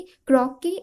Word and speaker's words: croquet: Okay, क्रॉके ये एक British game है।